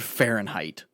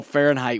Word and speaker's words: Fahrenheit: it doesn't sound or it sounds just like fair and height you know when you put it together it's nothing like that it's fh r e